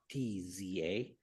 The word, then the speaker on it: Forza: And Forza is spelled kind of weird. It's Fortza, as opposed to the Italian Forza, right?